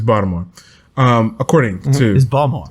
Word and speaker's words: Baltimore: by the way it's baltimore um according to his bomb sources yeah bottle you can't if you if you pronounce the t in baltimore you're wrong um and i'm like